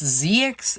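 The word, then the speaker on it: Ziox: i'm doing here so this guy's name is the weirdest it's zx and it's spelled z-i-o-x so he's a knight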